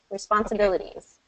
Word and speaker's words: responsibilities: So the stress would fall on response, a bill there and there. Responsibilities, so second and fourth syllable.